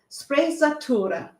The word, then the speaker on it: sprezzatura: has adopted so let me just get the pronunciation correct it's sprezzatura there you go and what this means is